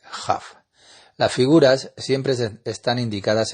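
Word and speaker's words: כ: Si una palabra termina en una vocal y la próxima palabra empieza con la Bet, Pe, Kaf, debe pronunciarlas como Wet, Fe, Jaf.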